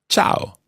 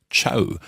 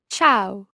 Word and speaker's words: ciao: or an informal hello in Italian you see ciao ciao ciao now be careful with the pronunciation of this word quite often people think it's Chow almost as if it's spelled CH or W